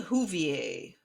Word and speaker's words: Whovier: She took the chandelier from the dining room to include Martha May Whovier, which is spelled like Hoover, which is hilarious.